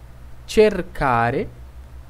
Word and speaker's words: cercare: C-E-C-I seria o som de che, chi, ok? Então, essas palavras são pronunciadas da seguinte forma. Cenare, cercare, circo, cucina.